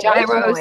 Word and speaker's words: gyro: Many languages have the G, the H noise, but it's also the Y sound. Yeah. Because you could say gyro, and that's giving a G noise.